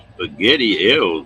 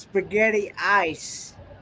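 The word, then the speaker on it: Spaghettieis: cold i don't have to try that roy spaghetti eel what the heck that's actually pronounced spaghetti ice oh i yeah okay it's actually have you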